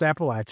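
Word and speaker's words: Appalachian: Uh and we have established on this show that it is pronounced Appalachin.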